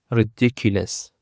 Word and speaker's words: ridiculous: Ridiculous. Ridiculous consists of four syllables and the stress is on the second syllable.